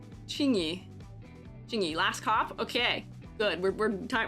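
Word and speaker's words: Qingyi: How do I pronounce a Q in this circumstance? Chingy? Yes, yeah, okay, my thought was right. Chingy.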